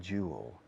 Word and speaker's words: jewel: You're a jewel. You're a jewel. Fijaos en la pronunciación. You're a jewel. Escrito jewel. Joya. Jewel. Porque los españoles tenéis la costumbre de decirlo al revés.